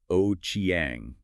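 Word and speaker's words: Ochieng: That's spelled O C H I E N G and pronounced O Chiang.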